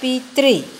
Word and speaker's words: पितृ: मात्रा कैसे निकालेंगे, तो इसका भी उच्चारण होता है पितृ और री की मात्रा बाद में आती है, इसीलिए यहाँ पे री बाद में लिखेंगे।